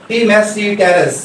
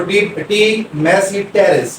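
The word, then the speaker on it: Tmesipteris: वो है सीलोटम, इसमें पी साइलेंट है सीलोटम, और ये है टी मैसी टेरेस, इसमें पी साइलेंट है, इसको टी मैसी टेरेस P silent है इसके अंदर।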